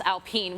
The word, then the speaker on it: Alpine: And then this Alpine, which now I know is how you say it because Alpine, it's there in you go. French.